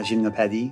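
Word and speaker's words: Gymnopédie: piece is called Premier gymnopedi got to give it that proper French pronunciation that piece is so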